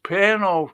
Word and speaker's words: Pernod: And the fella came up, was serving them, and he went, it's Pernod, you don't pronounce the D. It's French.